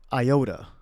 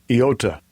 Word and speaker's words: iota: Iota. Iota. All right, here's a theory. It may have actually been pronounced with the Y.